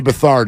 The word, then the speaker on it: Beathard: C.J. Beathard is how it is pronounced.